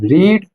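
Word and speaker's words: read: पढ़ाई करने की क्या होती है, रीड। रीड की थर्ड फॉर्म क्या होती है, रेड। पढ़ते रेड है, लिखते स्पेलिंग रीड है।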